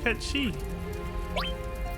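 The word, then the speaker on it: Cait Sith: Oh, I want to talk to Kate Sith. Dangerous. Count me out. Ketchi. That's a cute pronunciation too.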